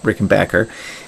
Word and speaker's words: Rickenbacker: white six string rickenbacker rick and backer that's pronounced rick and backer playing playing playing wasted